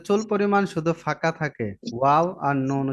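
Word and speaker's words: واو: ওয়াও, ওয়াও উচ্চারণ করতে কয় আলিফ লম্বা হবে? চার আলি, এই যে 4 লেখা আছে আপনাদের প্রত্যেকটা ঘরেই, অঙ্কেল দেওয়া আছে কোনটা কয় আলিফ হবে উচ্চারণ করতে। জি। আর ঠোঁট গোল হবে।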